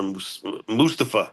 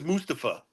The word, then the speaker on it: Mustafa: It's spelled like Mustafa. Supposed to be. No. No. His name is Mustafa.